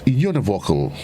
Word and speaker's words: univocal: It is spelled U-N-I-V-O-C-A-L. And it's univocal.